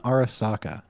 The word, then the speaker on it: Arasaka: Am's help with the ending mission, fighting against Arasaka, as they call it. Mm-hmm. Arasaka. It's freaking Arasaka.